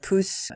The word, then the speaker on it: Pousse: Thumb is said Puss in French, though it's not spelled the same way, it's pronounced the same way as Puss.